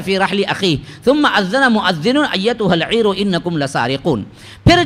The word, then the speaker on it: مؤذن: اسی سے مؤذن ہے، موزن بولتے نا، موزن بولے تو موزن کھا لے کچھ کھانا سو. اس کی اصل تلفظ جو ہے مؤذن، ہاں اذان دینے والا.